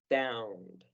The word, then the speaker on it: found: Recuerden todos que este diptongo en esta palabra se pronuncia como a. Found.